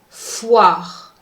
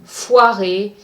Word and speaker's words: foire: Another rule that I showed you in my first pronunciation lecture was how the E at the end of the word is silent. For instance, the last word in that column is foire. Don't pronounce the E, so foirer is incorrect.